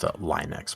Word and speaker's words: Linux: Well, it's pronounced Linux, by the way.